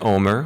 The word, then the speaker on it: Omer: One more thing, I must thank my dear husband Omer, which he loves to say to people. He loves telling people. It's pronounced Homer Simpson without the H, just so you know.